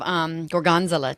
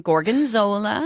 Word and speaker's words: gorgonzola: say something oh I was just thinking of Jorgen Zilla two Gorgons well yes that's a good one gorgonzola gorgonzola and it is a blue cheese people